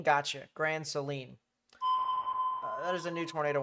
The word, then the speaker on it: Grand Saline: Uh, it's pronounced Grand Seline. Gotcha. Grand Seline.